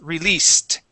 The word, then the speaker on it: released: of this word okay that s is an s sound so instead of saying release released it's released so that uh if that is an S sound okay then this e d makes a t sound released try that released